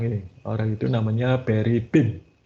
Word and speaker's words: Boehm: Orang itu namanya Barry Bim. Itu bacanya Boehm, itu bacanya Bim.